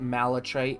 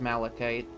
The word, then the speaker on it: malachite: Like I guess even like pronouncing it malatite isn't that weird, but like I learned it was supposed to be malachite.